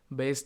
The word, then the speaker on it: Bayes: इसे आप लोग प्रोनाउंसिएशन कर सकते हैं जिस तरह का आपको मन करे, बेस थ्योरम कह सकते हैं, बायस थ्योरम कह सकते हैं, जो भी मन करे वो कह सकते हैं, आप पे डिपेंड करता है।